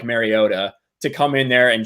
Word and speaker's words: Mariota: what does that put the Tennessee original aside Mariota right that's how you say his name yeah